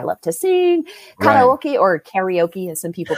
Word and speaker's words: karaoke: Karaoke, or karaoke, as some people pronounce it. Karaoke is the Japanese way to say it funny.